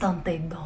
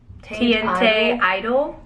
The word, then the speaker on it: Teinte d'Eau: Teinte d'Eau. Like, if I was gonna pronounce that without already having heard it, I probably would have said like TNT Idol. Probably. But it's Lancôme Teinte d'Eau.